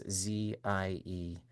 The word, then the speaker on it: Ziesenis: I never know how to say her last name. It's Ziesenis. Beth Ziesnes.